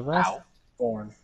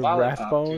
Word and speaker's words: Wrathborn: The Wrathborn. Oh, Wrath. Thank God you're saying it right. Remember when we were fucking Wrathbone?